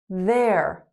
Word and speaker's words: they're: They are, there. Just like hair.